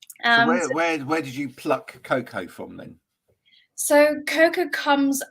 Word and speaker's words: Koko: Emily uh from Germany with a great name Coco is that is that how you pronounce it yes that's how you pronounce it